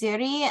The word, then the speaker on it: Zari: My name is Zari, and some people call me because they can't say my name right.